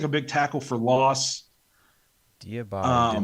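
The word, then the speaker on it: Diabate: Another guy we talked about a little bit, we mentioned, but how do you say his name? Is it Diabati? Yeah. Diabati.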